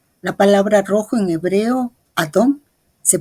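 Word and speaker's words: אדום: ahora nosotros podemos hacerlo rojo se pronuncia adom que es muy parecido a Adam en efecto nosotros podemos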